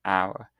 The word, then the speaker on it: hour: For instance, use an before words with a silent h. So for example, an hour.